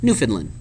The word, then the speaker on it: Newfoundland: Pronounced Newfoundland, Canada.